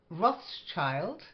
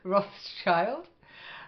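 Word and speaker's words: Rothschild: at the V again Roth's child it's a famous name and if you like wine yeah you might want to pronounce it when you go for a bottle of it Roth's child uh Bengal again we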